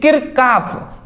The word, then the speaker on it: Kirchhoff: विद्युत नेटवर्क के लिए किरकाफ यहां पे याद रखिए किरचाफना कहकर कभी-कभी बोर्ड एग्जाम में किरकाफ का नियम लिखिए। तो ये प्रोनाउंसिएशन का डिफरेंट है केवल।